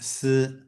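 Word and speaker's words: 四: The number 4 is pronounced si, which is the same as the pronunciation for death.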